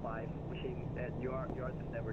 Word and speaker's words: Fuqing: Actually, pronounced is Fuqing.